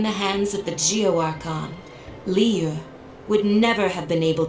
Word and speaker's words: Liyue: It's Liyue. Most of the characters say that correctly. Some of them say Liu or something else that doesn't sound right compared to everyone else pronouncing it correctly.